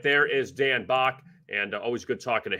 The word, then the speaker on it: Back: And you can find Dan on Twitter at Dan_BACK, spelled back, but it's pronounced Bach.